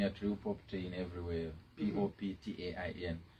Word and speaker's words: Poptain: real property in everywhere p-o-p-t-a-i-n and you pronounce it as poptain and you can always